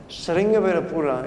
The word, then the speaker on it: Sringavirapura: Because Sringavirapura, if you pronounce it in the Sanskritic way, is the place in